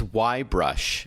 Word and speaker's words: Y-Brush: What is YB brush? And for our listeners, it's spelled the letter Y-brush.